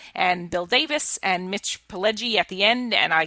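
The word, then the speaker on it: Pileggi: I mean, when Mitch Mitch Pelgi came out and his name was improperly pronounced as Paleggy and he leaned over to the person who introduced him and said Pelgi and she corrected it.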